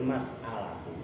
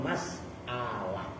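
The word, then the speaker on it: مسألة: Nah, wahadhil mas'alatu. Bacanya bener mas'alah. Dalam bahasa Indonesia masalah.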